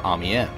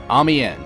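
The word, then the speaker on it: Amiens: logically next we have amen amen yes that is how it's pronounced despite its spelling is the second map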